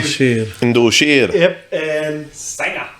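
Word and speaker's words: Sanga: Yep, and Sanger, or Sanka, as they pronounce on the show.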